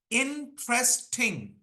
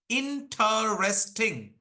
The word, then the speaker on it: interesting: there are exceptions also like if I say interesting three syllables but if I say interesting four syllables okay so I believe